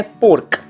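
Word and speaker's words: pork: बतक का मास पोर्क इसका उच्चारण है पोर्क और हमें आर थोड़ा सा साइलेंट करके बोलना है कंप्लीट साइलेंट नहीं करना है पोर्क डुकर नु मास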